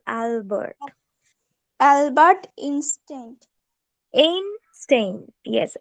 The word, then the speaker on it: Albert: is Albert Einstein okay Albert the sound of a you heard is ah it's Albert Albert instinct in stain